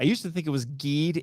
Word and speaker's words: Geed: 2017, Ultraman Geed. I used to think it was Geed. It's actually pronounced Geed.